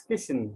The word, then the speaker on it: Kishan: your first name ah that's christian so uh like fishing you know yeah most of the time you know like pronounce it as uh kitchen sometimes christian so i need to sometime